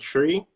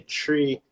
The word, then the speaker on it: three: like uh you know it's like spanish the h is silent so i used to say tree tree tree trimesters tree